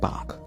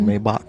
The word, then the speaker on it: Maybach: You kind of said Bach. What's that? Like Maybach? It was kind of Maybach-ish.